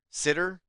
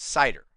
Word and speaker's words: CIDR: or cidr which is sometimes referred to as sitter and I've also heard it as cider okay I've always called it sitter I don't know what